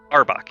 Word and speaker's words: Auerbach: Is it pronounced Auerbach? Auerbach, yes.